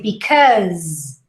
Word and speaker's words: because: mousey okay next up because even though it's spelt with an s the final pronunciation is a z so you say because surprise phase the last sound you hear is of a z all right so this